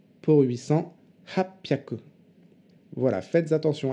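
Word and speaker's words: 八百: 600, ropyaku, pour 800, hapyaku. Voilà, faites attention à ces trois-là. Ne dites pas hachihyaku pour 800, ça ne veut rien dire. D'ailleurs, c'est dur à dire.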